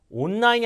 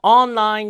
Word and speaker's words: online: 무조건 속도가 빠르면 안 되고 event, effort, recently 앞에 강세 recently, 자, river, 알 발음, 온라인이 아니라 online shopping mall 이렇게 정확하게 단어를 발음하고 강세를 주는 연습을 하셔야 됩니다.